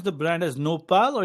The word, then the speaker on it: nopal: So do you pronounce the brand as Nopal or it's Nopalera?